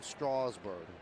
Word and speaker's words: Strasburg: And that's how the Nationals say pronounce his name, like straw. Straw. Steven Strasburg.